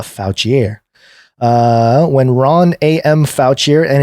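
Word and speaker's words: Fouchier: is I mean it's it's spelled fo u CH ier so not foul Chee a foul chiere when Ron a.m.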